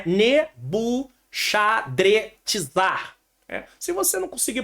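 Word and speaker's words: Nebuchadrezzar: Nabuco protegeu minha herança a forma que mais se aproxima do original do hebraico é nebushadrizar se você não conseguir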